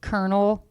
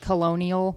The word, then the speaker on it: colonel: This is like when you ask to read Colonel and you said it like colonial or whatever.